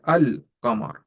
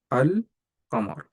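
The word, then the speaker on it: القمر: The name of this huruf comes from these two words, qamar, because when you add alif lam to qamar, you have to pronounce lam. So you say al-qamar, al-qamar.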